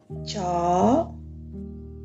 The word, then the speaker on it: chó: But in fact, we just pronounce, we don't need to open the mouth widely, just say normally like chó, Okay, don't pronounce like cho, all right, just cho, all right.